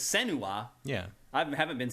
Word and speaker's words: Senua: a focus on, and I've been pronouncing her name wrong all along, it's Senua. Yeah. I haven't been saying it that way. What have you been saying? Senua. But they say it Senua.